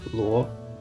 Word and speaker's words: Luo: last name correctly is first you pronounce Lu as Lu and then you put the Oh some at the end so it becomes Luo and you smoothen it it becomes law this is my name